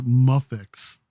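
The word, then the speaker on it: Mafex: spelled in japanese is pronounced as muffix like you say muffin yep but muffins wow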